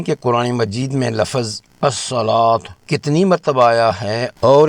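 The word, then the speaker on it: الصلاة: اصول نوٹ فرما لیجئے، اس لفظ کو پڑھتے وقت واو کی اپنی آواز بالکل نہیں نکالی جاتی بلکہ اسے الصلاۃ پڑھا جاتا ہے۔ واو کے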